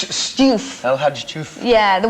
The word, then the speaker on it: Diouf: How do you pronounce it? Diouf.